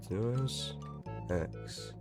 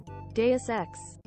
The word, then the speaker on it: Deus Ex: Okay, Deus Ex. Deus Ex.